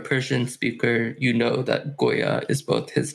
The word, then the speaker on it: Goya: The play in the original Persian is that Juya, which is suggesting the searching, rhymes with Goya.